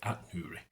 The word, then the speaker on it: Ait-Nouri: I'm not saying 8. I was going to say 8 originally until I found out it was just called At, so that's okay. Ait-Nouri.